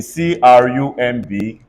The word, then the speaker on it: crumb: check the fact that anytime a word ends in mb MB not when the MB is separated in different syllables MD the B silence in c-r-u-m-b everybody say crumb I only said when